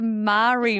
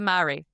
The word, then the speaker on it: Marie: But the Marie Isn't that a cereal? biscuit. Oh, they're the same thing. The Isn't that Marie? interchangeable? I would have said Mari, I think. It's a Marie.